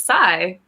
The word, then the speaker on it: Psy: psi i'm british it's psy yeah it's psy like psychology but with the night i see it i